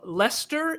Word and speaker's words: Leicester: Liam, am I saying that right? Yes, you are saying it right. Very well done, Skeetsy. Yes. It's spelled crazy, guys. It's spelled weird, yeah. Yeah, it's Leicester, but Leicester, England.